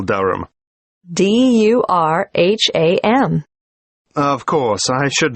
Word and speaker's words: Durham: At 1 Uranga Street, Durham. How do you spell Durham? D-U-R-H-A-M. Of course, I should know that. But it's just one of those names that sounds quite different from the way you spell it.